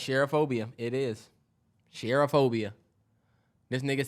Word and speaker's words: cherophobia: Yeah, it's cherophobia.